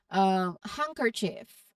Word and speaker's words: handkerchief: So for the letter D, the key is to recognize these specific common words and the DG and ND combinations. So while D is usually pronounced in these particular cases, it remains silent. Knowing these exceptions will help your pronunciation sound more natural.